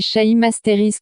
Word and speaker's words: Chaim: sous-entendu excellent monsieur holmes d'aucuns avaient du mal à prononcer mon prénom donc gelé anglicisé mon nom je ne dirais pas de baptême et chaim * 6 shame répéta le détective s'efforçant d'imiter sa prononciation gutturale qui signifie vie en hébreu dehors en quête d'un